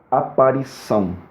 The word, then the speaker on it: aparição: Do lado de cá nós temos a cedilha, que faz com que a letra C tenha o som do dígrafo 2 S's, como acontece, por exemplo, em aparição. Aparição é escrito com C cedilha, para que a sílaba são comece com o som de 2 S's.